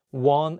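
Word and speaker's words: 왕: king in this case you don't pronounce the Ion at the beginning of the word only say the wa and pronounce the Eun at the end of the word as NG so all you need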